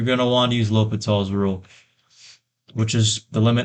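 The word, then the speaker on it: L'Hôpital: X over G Prime of x and it's pronounced l'hopital's rule if you want to piss people off you can say the hospital's rule or something like that but this is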